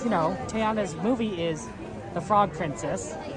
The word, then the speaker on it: Tiana: but the problem is Tiana is three syllables right Tiana right three Tiana Mountain oh but